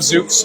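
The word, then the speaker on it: zouk: So, cult as in like joining a cult like cult of Zuks. Uh, Zuk is spelled Z O U K.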